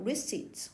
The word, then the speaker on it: receipt: 네, 것은 대부분 for the most part a pile of receipts 사실은 문학 작품이라기보다는 영수증이다 이런 뜻이죠. receipt P 소리가 묵음이죠.